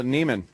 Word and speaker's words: Neiman: Nivens. Is it Nivens or? Oh, Neiman.